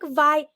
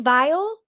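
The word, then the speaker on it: Viall: was on the Nick vi v vile how do you say I call him Nick I call him Nick VI but it's Nick vile yeah vile okay V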